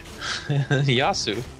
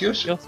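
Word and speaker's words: Yasuo: Lucian to me okay it's like youo yasu it's yosu yosu sorry yeah that is that is yosu and then there's n Yu yosu Yu yosu it's yosu that's what the Europeans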